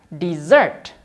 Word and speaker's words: dessert: Yang ini dibaca dessert. Dessert. Ya, memang kedengarannya sama seperti makanan penutup ya. Hanya saja berbeda di penulisannya. Yang ini S-nya 1, ini S-nya 2.